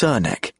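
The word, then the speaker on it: Srnicek: Mark emphasizes the pronunciation of Cernicek as Cernek. That's how we pronounce it, which is from the horse's mouth.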